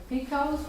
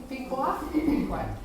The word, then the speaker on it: Pequot: He became friends, he learned the Indian language and became friends with the Mohegans, the Incas, and the Picos, Mark, am I pronouncing that right? Pequot?